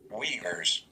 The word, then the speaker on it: Uyghur: hold on hold on Weavers Weavers that's pronunciation of that really yeah that I I'll do it again Weavers Weavers okay there's no V there but whatever um camps